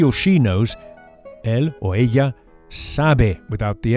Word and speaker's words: ella: And the way to say she is ella. Ella. The Spanish double L is pronounced very similarly to an English Y with just a hint of J.